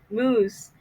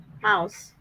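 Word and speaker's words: mousse: I'm sorry he was trying to say chocolate moose but however he pronounced it as chocolatey mouse.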